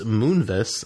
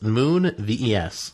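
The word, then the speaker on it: Moonves: according to CBS Corporation Les Moonis I don't know if I'm pronouncing that right but it's Moon VES so moon or so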